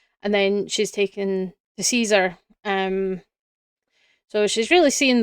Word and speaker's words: Caesar: Um, was, you know, the pronunciation in Latin with the hard C instead of the soft C.